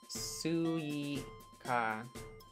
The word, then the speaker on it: Suika: Suika.